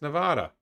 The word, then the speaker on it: Nevada: How am I pronouncing Nevada wrong? It's Nevada.